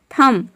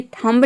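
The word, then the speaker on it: thumb: थम, ये थंब नहीं होता है, थम का मतलब होता है अंगूठा।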